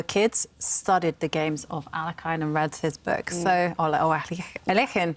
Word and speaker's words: Alekhine: And so much fun to listen to your stories about Alekhine, or Alekhine. which I guess is the right pronunciation in Russian.